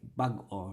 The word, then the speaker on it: bag-o: So like bag-o, right? Lub dub, like a little heartbeat.